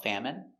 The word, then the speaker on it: famine: So, remember these special words ending with i n e. We pronounce them all the same.